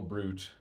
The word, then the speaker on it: Bruit: This morning meditation live stream with me, the Bruit, that is fruit spelled with a B, not like a brutish monster, has come to an end.